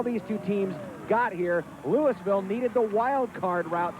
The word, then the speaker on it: Louisville: We're used to seeing Louisville playing in March Madness, and it's pronounced Louisville. In Nebraska, it's pronounced Louisville.